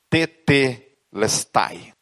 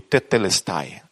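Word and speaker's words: τετέλεσται: Essas duas palavras, está consumado, Jesus pronuncia uma palavra grega que é tetelestai. Repita comigo, tetelestai.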